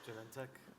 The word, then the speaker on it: Genentech: Justin Molavi from Genentech, what do you prefer? Genentech. Oh, I mean, that's how I pronounce it, yes.